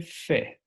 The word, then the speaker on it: fais: En la primera línea podemos encontrar letra S que no se pronuncia. Je fais.